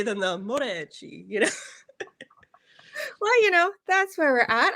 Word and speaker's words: Moreci: I've heard everything. Morchachi, Moriki, it's Okay. How do you say it? well, technically it's Moreci, but my ancestors have since Americanized it Yes. when they came over to the US. So we just say Moreci, Moreci.